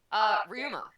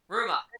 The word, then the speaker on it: Ryoma: Wait, you didn't pronounce it right, man. Wait, I didn't? There's not a Y. Oh, so it's just Ruma? Yeah. Ruma.